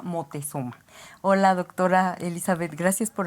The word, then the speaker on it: Motezuma: llama ópera motezuma y no lo estamos pronunciando mal Lo que pasa es que los europeos no pueden decir Moctezuma Entonces se llama motezuma Hola doctora Elizabeth Gracias